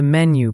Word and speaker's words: menu: And menu has the stress on the first syllable.